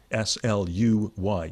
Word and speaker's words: Sluy: how to spell that, because it's a Dutch name and it's got a U in it. We should say it, S-L-U-Y-T-E-R. Sluy, U-Y as in by, as in guy.